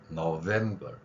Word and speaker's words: November: 윗니로 아랫입술. 그래서 November 이렇게 발음하는 겁니다.